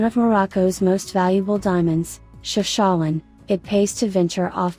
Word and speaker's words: Chefchaouen: To find one of Morocco's most valuable diamonds, Chefchaouen, it pays to venture off the usual path.